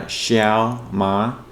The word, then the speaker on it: Shiao Ma: My name is pronounced uh Shia Ma.